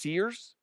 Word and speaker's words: SERES: I think it's pronounced Sears.